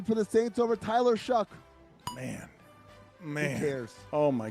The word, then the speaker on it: Shough: Also, Tyler Shuck. Spell your name right or pronounce it right.